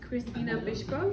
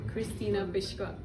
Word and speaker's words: Krystyna Pyszková: your Instagram any social um my Instagram is Christina bishko my name is a little bit difficult but it's spelled k r y s t y n a h p y s z k o Christina pishka I'll be so happy if you send me